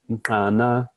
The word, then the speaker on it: mtana: People are now, Hadza speakers are now pronouncing this as mtana with an alveolar click instead of an alveolar stop, in order to include